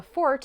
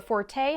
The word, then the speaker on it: forte: If you catch flack for calling your strong suit a fort instead of a forte, however, go ahead and tell your critics they're wrong. F-O-R-T-E in this context is